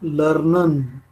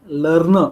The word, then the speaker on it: lerne: See, E is A because it is coming in between, and over here it is you have to pronounce at a, lerne, not learner.